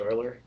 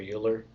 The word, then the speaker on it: Euler: a fun site project Euler or Euler the correct pronunciation does not match the way it's spelled but it just gives